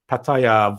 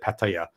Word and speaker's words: Pattaya: busting me out for the way i said pattaya it's really with the thai accent oh man like every